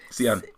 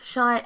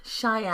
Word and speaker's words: Cheyenne: Sian. No, she said it's Cheyenne. Oh, Cheyenne. I think so. I apologize. Yeah, I apologize. It's pronounced Cheyenne.